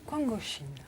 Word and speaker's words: Kwango Chim: Je lui ai demandé un conseil, il m'a dit Kwango Chim.